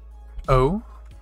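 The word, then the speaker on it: お: Then we have this kana, which has two little circles at the bottom, pronounced o, like you're saying, oh.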